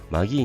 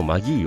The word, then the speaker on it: Magie: 興奮が蘇りますあとこのマギーはどう発音するのかが難しくてみんな色々な発音していると思うのですが正解はさいちゃんがラジオで言っていましたので聞いて